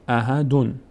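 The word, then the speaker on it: أحدٌ: به همین خاطر در خواندن هم ما اون نون ساکن رو باید تلفظ کنیم. یک نون اضافه میکنیم میشه احدون. رسولون، اصلش این بوده دیگه، رسولون. یک نون ساکن داشته که حذف شده، به جای این ضمه نون ساکن دو تا ضمه گذاشتیم روی لام، یک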